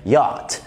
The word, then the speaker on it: yacht: ها، احيانا كمان ال CH ما بتتقالش خالص، ودي نادرا بقى ما بتحصل في كلمات زي yacht yacht اللي هو يخت، السي ومعها سي تانية في